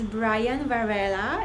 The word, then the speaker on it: Brian Varela: going to be listening to us, this is Brian Varela. Did I pronounce it right?